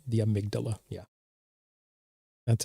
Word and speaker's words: amygdala: Thank you for correcting my pronunciation, not the amygdala, the amygdala.